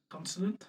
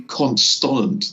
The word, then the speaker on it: consonant: It's people who say constant that get on me. It's not constant.